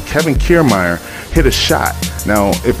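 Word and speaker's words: Kevin Kiermaier: super entertaining game um now what happened was kevin kiermeier that's how you say his name kevin kiermeier hit a shot now if anybody knows fenway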